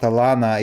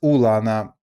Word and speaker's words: Ulana: Not Alana, it's Ulana.